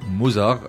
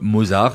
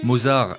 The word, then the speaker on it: Mozart: Les deux mots, Mozart et Mozarella, ne se prononcent pas de manière identique, ni même très proche. Personne ne dit "Ez, moi je viens de stream la dernière symphonie de Wolfgang Amadeus Mozar."